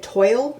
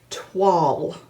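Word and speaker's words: toile: Well, we did a little bit of research and it's actually a French word and it's pronounced tw.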